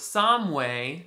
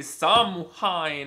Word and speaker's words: Samhain: All Saints' Day also lines up with Samhain. Look at how that's spelled. It's not how you're supposed to say it, that's all I know.